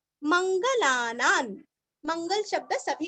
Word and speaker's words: मंगलानां: उच्चारण आधा म, यो मंगलानान, मंगल शब्द सभी को पता है और ना के ऊपर अनुस्वार का उच्चारण आधा न, क्योंकि आगे च आया हुआ है, मंगलानां च मंगलम, लास्ट